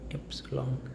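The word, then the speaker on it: Ypsilon: Epsilon yps i l Epsilon Epsilon Epsilon so in Germany the letter Y becomes Epsilon not y it's Epsilon Epsilon and the letter Z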